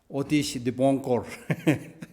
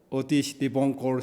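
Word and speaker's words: অতীশ দীপংকর: So, Atisha Dibamkara Shirijana in Bengal, Bengali, it's called Atisha Dibamkara Shirijan, but the proper Bengali pronunciation is Otish Dibonkor, something like that. Otish Dibonkor Shirijan or something like that.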